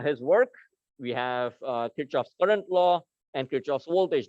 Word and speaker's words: Kirchhoff: conservation of energy right the actual german pronunciation for this name is kerschhoff now none of us